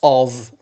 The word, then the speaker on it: of: We have also another word which is lots of. F, it is pronounced V.